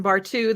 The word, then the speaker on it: Bartu: Nashville Zoo, and Bartu, the zookeeper out there. I love he's a zookeeper, the Bartu at the zoo. I mean, I love it. Your name rhymes with zoo.